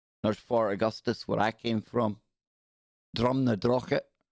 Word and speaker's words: Drumnadrochit: Drumnadrochit. So funny hearing tourists trying to pronounce that when they ask how you get to Drumnadogshit. No, Drumnadrochit.